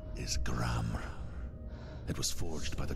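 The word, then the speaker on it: Gramr: The R at the end is silent.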